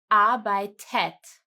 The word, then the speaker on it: arbeitet: Here, the normal conjugation is the T, as seen in red again, but we are adding an E again to pronounce it easier. Arbeitet.